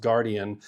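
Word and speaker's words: Guardion: It's spelled guard-ion, but it's pronounced Guardian coating on their lenses that helps reduce glare.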